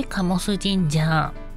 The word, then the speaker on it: 神魂神社: ましたのは神の魂と書いて醸すジンジャーこちらの神社有名